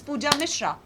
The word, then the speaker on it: Pooja Misrra: It's Pooja Mishra only.